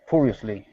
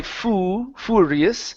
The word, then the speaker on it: furiously: the word hurry okay we don't want to say FU fuus it's fur furiously furiously oh sorry no this